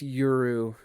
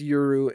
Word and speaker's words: Yuru: real quick check and see if his name is actually Yuru. It is Yuru. It is Yuru, and I've been saying his name wrong this entire time. That's sad. I don't know how I have missed that every single time. Oh, great. All right. I thought it was Yoru because Yoru is night, right?